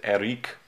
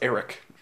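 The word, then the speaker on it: Erik: I think it's pronounced Eric. I mean, it's a Hungarian. Eric. I think you're being racist. I'm not being racist by pronouncing something the way it's supposed to be pronounced.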